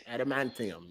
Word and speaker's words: adamantium: he said how are they say adamantium adamantium oh no did i say it right no